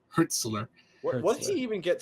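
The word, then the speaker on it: Hürzeler: for Fabian herler Herz herzler that's how you pronounce it herzler what did he even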